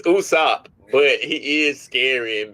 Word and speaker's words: Usopp: It, it's so funny that you called him Usoft. It's Usopp, but he is scary and be running away.